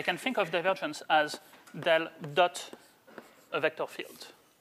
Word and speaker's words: del: you quickly about the dell notation so this guy usually pronounced as del rather than as you know pointed triangle going downwards or something like that